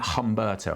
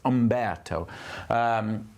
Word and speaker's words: Umberto: I've got to get the pronunciation right because I've been calling it Humberto, and that's wrong. It's Umberto.